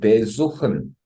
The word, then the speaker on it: besuchen: 어, 예를 들면 이렇게 besuchen 하면은 이렇게 besuchen 이렇게 하면은 어 애초에 발음 자체도 어 전철에다 강세가 있는 게 아니고 suchen 원래 동사에 강세가 오고요.